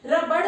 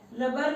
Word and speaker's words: रबर: अच्छा कुछ बच्चे है ना रबर को रबड़ रबड़ बोलते हैं, रबड़ नहीं होता रबर होता है, इसलिए अपना प्रोनाउंसिएशन भी ठीक करना है। ठीक है, रबर ने बताया कि वह